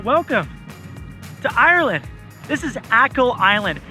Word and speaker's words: Achill: This is Achill Island. It's also kinda spelled like A Chill Island.